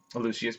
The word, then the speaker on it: Lucius: in the book that he pronounced it with four syllables and therefore I had